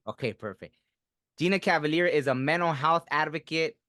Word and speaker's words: Gina Cavalier: a good way podcast today's special guest is Gina Cavalier did I pronounce it right yep that's right okay perfect Gina Cavalier is a mental health Advocate author filmmaker artist